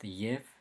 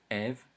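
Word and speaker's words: և: It's pronounced yev in the initial position and after vowels, such as yev, meaning and naev, meaning also. And it is pronounced ev in the middle and the final position of words after consonants, such as arev, sam.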